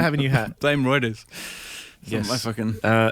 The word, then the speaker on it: Reuters: I think it's Reuters, isn't it? Yeah, that sounds right. It's not because it's not routers. It's not routers either.